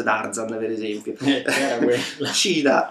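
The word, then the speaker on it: Cheetah: da fare Un'altra precisazione cita pronunciato più o meno correttamente dovrebbe essere cita qualcosa del genere cita non è la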